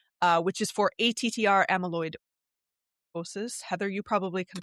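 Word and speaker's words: amyloidosis: patent on Vindamax uh which is for ATR amaloidosis. Heather, you probably can pronounce this a lot better than I can. Uh, amalidosis.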